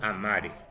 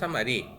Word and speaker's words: amare: Y en el futuro es que yo amare. ¿Ya? Que yo amare. No lleva tilde, no es amaré. Amaré es un futuro simple.